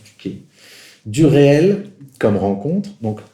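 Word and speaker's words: tuché: Il dit, le 12 février 1964 dans son séminaire, la fonction de la tuquée, je prononce tuquée, du réel comme rencontre,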